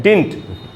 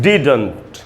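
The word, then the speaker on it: didn't: ये फैशन बन गया, इसको लोग बोलते हैं डिंट। डिंट डिंट नहीं बोलना है दोस्तों, एकदम क्लियर बोलना है, डिडंट। देखिए डी में जो ई है उसी पर स्ट्रेस है, यानी उसको बड़ी ई के जैसे पढ़ना है, इसको हमको पढ़ना चाहिए डिडंट।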